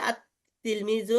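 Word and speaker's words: التلميذ: যেমন তিলমিজুন শব্দের শুরুতে আলিফ লাম লাগায় লিখতে হবে আর তিলমিজু, এখানে লাম আছে কিন্তু পড়ার ক্ষেত্রে লামের কোনো ভূমিকা থাকবে না, অর্থাৎ লাম কোনো কিছু উচ্চারণই হবে না।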